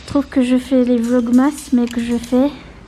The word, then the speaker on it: vlogmas: Mon papa, il a dit je fais les vlogs moches. Oh, les vlogmas. C'est pas les vlogmas, c'est les vlogs moches. Voilà. Quand je te filme, tu dis plus. Non, c'est les vlogmas, tu prononces mal.